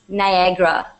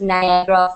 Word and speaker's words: Niagara: PDF all right and it is pronounced Niagra all right I can see a couple couple of people asking in burbling chat how is what is the name of the falls it's pronounced Niagra Falls okay and uh and like I said